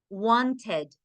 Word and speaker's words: wanted: Y la última sí suena. Wanted, chatted, texted.